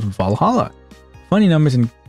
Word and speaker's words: VA-11 Hall-A: know what I mean the name sounds silly and a bit hard to pronounce good thing it's actually called Valhalla funny numbers and letters